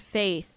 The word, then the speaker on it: FTH: Oh, it says it's pronounced faith. FTH. Faith. That's stupid.